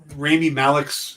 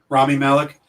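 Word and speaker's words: Rami Malek: been some speculation that perhaps remy malik's is that how you pronounce his name remy malik i think it's rami rami malik uh that his character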